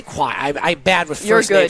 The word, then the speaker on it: Kawhi: Kawhi. I say Kawhi.